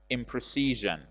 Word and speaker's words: imprecision: Please note that the addition of a prefix to precision doesn't make any change in the stress pattern of the word. Precision, the stress is on the second syllable, C, and it is the same in imprecision.